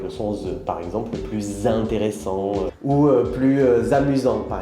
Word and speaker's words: plus: En général, on ne prononce pas le S quand il y a un adjectif après.